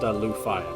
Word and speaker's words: Leufaya: Candy and yeah my name is pronounced Lou Fire by the way okay I